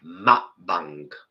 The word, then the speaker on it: mukbang: And it's not actually muk, it's mukbang. That's how you say it.